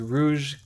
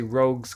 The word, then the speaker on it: Rogue's: it in the stream i was pronouncing it as rouge cathedral it was actually rogue's cathedral oh you live by